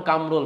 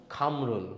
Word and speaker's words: কামরুল: তাহলে যার নাম কামরুল তারা কি বলতে হবে জানেন? খামরুল। না, আপনার খামরুল বলার দরকার নেই।